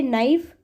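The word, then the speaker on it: knife: तो देखो मैंने जितने वर्ड्स बोले हैं इसमें मैंने कहीं पर भी कैसे यहाँ पर स्टार्ट नहीं किया है, तो यहाँ पर के क्या है हमारा, साइलेंट है।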